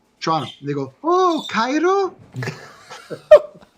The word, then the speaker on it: Toronto: It's really a one-syllable word. Toronto. When you're from Toronto, you say Toronto.